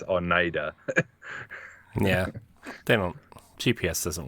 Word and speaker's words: Oneida: It's like Oneida, it pronounces it Oneida. Oneida, yeah. It's like, no, it's Oneida.